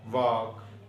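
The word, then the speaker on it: walk: Rule ये है, अगर किसी वर्ड में एल से पहले ए ओ यू आ जाए तो एल साकन या साइलेंट हो जाता है. मसलन वाक, टाक, फोक, फोक कहते हैं लोगों को. साइमन, साइमन मछली होती है. Would, should.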